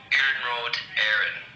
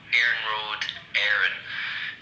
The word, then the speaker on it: Iarnród Éireann: Hey Will, so you pronounce it Iarnród Éireann. So Iarnród Éireann. Iarnród is the Irish for railway, and then Éireann is the Irish for Ireland, so Irish railway basically.